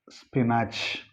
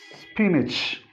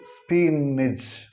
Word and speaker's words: spinach: This word is usually pronounced wrongly as spinach because of this A. But see the phonetic transcription. Here it is this symbol, it is E. So it is spinach. But it can be pronounced in one more way, that is spinach.